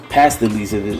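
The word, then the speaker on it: pastilles: All right, pastils, that's how you pronounce it.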